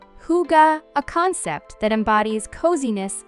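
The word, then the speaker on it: hygge: a deep appreciation for Hai pronounced Huga a concept that embodies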